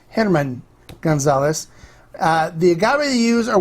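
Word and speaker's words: Germán: this is Hanuman Gonzalez now it looks like German in English but in Spanish it's pronounced Henneman Gonzalez the gallery use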